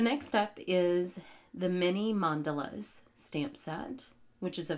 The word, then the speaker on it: mandala: The next stamp is the Many Mandalas stamp set, which is a fun, layering mandala - yes, rhymes with gondola - stamp set and it comes with this little acetate guide.